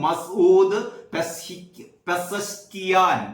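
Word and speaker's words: مسعود پزشکیان: പിന്നെ ഇവരുടെ പ്രൊനൗൺസിയേഷനാണ്, മാധ്യമത്തിന്റെ ഈ ഉച്ചാരണമാണ് ശരിയെന്ന് തോന്നുന്നു. മസൂദ് പെസഷ്കിയാൻ.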